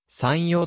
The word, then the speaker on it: 三洋: テレビ cm などで略して三陽と呼ぶ場合は三洋電機等とは異なり三様のさにアクセントを置いて発音している事実上のイメージ